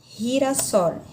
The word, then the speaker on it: girasol: Então, quando o G vier diante de E e de I, eu vou ter esse som, re, ri, como se fosse o nosso R arrastado para cá, para a língua portuguesa, a pronúncia, tá? Girasol, girasol.